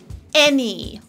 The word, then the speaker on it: any: Also, there are a few important instances where the eh sound is just spelled with plain old letter A, like in any or many, eh, eh.